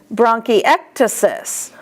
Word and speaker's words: bronchiectasis: Bronchiectasis, ek is the accent.